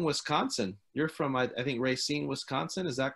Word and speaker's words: Racine: You're from, I think, Racine, Wisconsin. Is that correct? Did I pronounce that correctly? Yeah, I'm right. We're from Racine, Wisconsin.